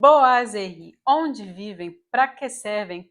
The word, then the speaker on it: boiserie: correto é bo a e esse S que vem depois tem o som de z então a pronúncia correta seria boazeri E por que eu